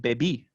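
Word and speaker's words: bebi: therefore stress moves from the typical penultimate position to the final position so you can know the difference between baby and baby right bebe is going to be she drinks baby i drank right so this uh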